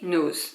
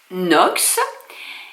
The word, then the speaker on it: Nox: parlé des parfums knox j'ai dit nous donc je redis nox et il faut que